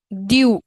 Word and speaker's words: du: Due. It is pronounced as due.